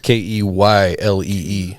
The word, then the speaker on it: Keylee: Ke L E Y K E Y L E E Y L.